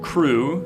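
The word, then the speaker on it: Crewe: Crew, spelled with an E at the end, hyphen Milnes, Milnes.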